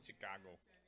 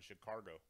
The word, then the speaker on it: Chicago: the 8th grade before I found out there was no R in Chicago. That's how my parents pronounced it.